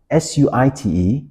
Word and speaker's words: suite: "Oh, we've got a very nice suit at level 17 that is extremely premium." What the person meant is actually suite. S U I T E is pronounced as suite, right?